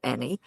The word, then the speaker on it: Enney: So, we're here today with Kenny Amy and it's spelled E N N E Y but pronounced Eny who is a rancher.